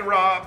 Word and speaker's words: rabe: Broccoli Rob uh which is spelled R A B E is actually more like more part of the turnup family than broccoli.